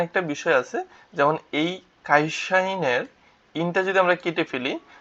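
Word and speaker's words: 会社員: বা ছাত্রছাত্রী শিক্ষার্থী তারপর কি আছে কাইশা ইন খাইশাইন কাইর সাথে ই কাইশির সাথে ইয়াশা ই আর হচ্ছে ন ইন খাই খাইশাইন। এখানে ক এর উচ্চারণটা খা এর উচ্চারণটা একটু খ এর মতো হয় আর কি। হ্যাঁ? খাইসাইন।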